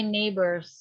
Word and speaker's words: neighbors: G-nya jangan dibaca ya. My neighbors.